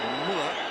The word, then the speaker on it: Müller: But as Miller says, Müller, as we prefer to pronounce him, that looked like a reasonable challenge.